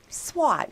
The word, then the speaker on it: SWOT: SWOT. Now it's spelled different than the fly swatter, but the SWOT analysis, because the whole purpose of the SWOT analysis is to get you focused.